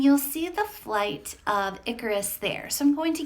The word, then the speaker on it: Icarus: online to make sure that I was actually pronouncing it correctly I thought it was I Karis but it is Icarus so the flight of Icarus alright now before